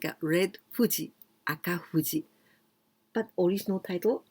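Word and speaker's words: 風: Maybe you know this one just like a red Fuji, Aka Fuji. But original title, Gaifu Kaisei. Well, this second kanji, fu, you can also pronounce kaze.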